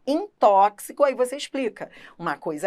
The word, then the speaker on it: tóxico: aí você vai explicar olha tóxico se escreve com x mas a representação fonética desse x não é a de ch entendeu Como é em xarope então em xarope o x se pronuncia como ch inem tóxico aí você